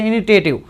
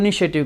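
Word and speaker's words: initiative: education यह लिखा है वैसे इनिटेटिव लेकिन बोलते हैं जो उच्चारण होता है वह इनिशिएटिव कहते हैं अ होता है वह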